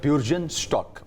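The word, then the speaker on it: Bürgenstock: Lake लुसेर्न है और वहाँ पे एक रिजॉर्ट है, उस रिजॉर्ट का नाम है ब्यूर्जनस्टॉक। इसकी जो एक्चुअल प्रोनाउंसिएशन है इस रिजॉर्ट की वो है ब्यूर्जनस्टॉक।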